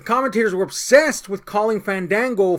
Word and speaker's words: Fandango: ] reason the commentators were obsessed with calling Fandango fond dango no I'm sorry Falun Gong on dongho yeah